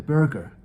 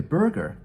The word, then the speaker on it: burgher: the attitude of the burger this word is spelled b-u-r-g-h-e-r it's a relatively archaic